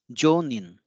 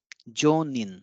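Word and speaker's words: 上人: So how it will be pronounced? It is Jonin. Jonin. This is Jo, this is Nin. Jonin means holy priest or a saint.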